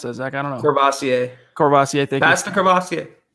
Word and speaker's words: Courvoisier: Been drinking how do you pronounce that, Zach? I don't know. Courvoisier.